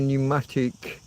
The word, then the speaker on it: pneumatic: Pneumonia, pneumatic.